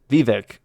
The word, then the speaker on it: Vivek: Vivek. We always keep mispronouncing it, maybe. Rhymes with cake.